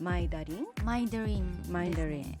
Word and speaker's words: MindaRyn: It's written as "MindaRyn," but how do you pronounce it? It's "Mai-da-rin."